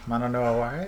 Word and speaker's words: mono no aware: Mono no aware?